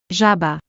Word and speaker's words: żaba: Z with a dot above it sounds like the S in measure or pleasure, a buzzing voiced sound.